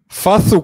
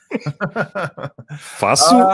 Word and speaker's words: Facu: Fathu Campazzo. You're not going to let it go. Not how you say his name. Fasu or Campazzo?